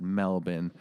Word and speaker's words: Melbourne: in Melbourne uh it's spelled Melbourne but they pronounce it Melbourne uh we're in Melbourne and we played and